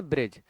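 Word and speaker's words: bridge: हम उसको डी को नहीं पढ़े क्या कहते ब्रिज है ना ऐसे अगर डी के बाद क्या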